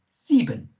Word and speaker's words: Sieben: Sieben. Okay, first of all, S in German is pronounced like a Z.